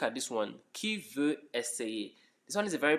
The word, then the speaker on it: essayer: It's not essayer, it's essayer. Essayer, that's the pronunciation.